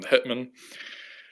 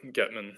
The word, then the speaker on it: Hetman: that's their term um hitman and uh or getman depending on you know how you want to pronounce it but i pronounce it hitman um so he goes